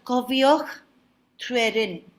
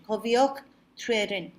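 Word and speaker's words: Cofiwch Dryweryn: So this is called Cofioch Trwerin. That's the pronunciation. Cofioch Trwerin.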